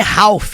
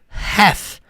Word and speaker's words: half: Outra coisa que você precisa saber, não é half. Muita gente fala errado. Half não. Half não. Have e depois of life da vida, metade da vida. Half of life. Aqui também é som de v, não é som de f.